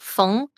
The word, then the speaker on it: Feng: Well, if you say it in, I guess, how you would as a Chinese person, it would be pronounced Feng, which is, I guess, if you spell that in English, it might be Fung.